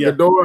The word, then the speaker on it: Ghidorah: Is it Ghidorah? How you say it? Well, it's you can say Ghidorah or Ghidorah.